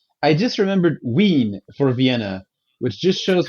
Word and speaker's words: Wien: In German, though, if it's written with a W, it should be Wien, right? I listened to the whatever was on YouTube. How do you pronounce Vienna? And it sounded like Wien, or something like that.